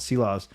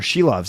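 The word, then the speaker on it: Silovs: just one one thought about sea laws uh or she loves as they are both calling him now on TV and and the radio archers archers she loves I guess is the proper way to say it I was a little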